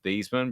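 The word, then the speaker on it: Theismann: know that it was thiesman but they changed the this one because it rhymes with heisman did not yeah that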